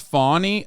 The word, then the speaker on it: Fani: One is, it's pronounced Fani.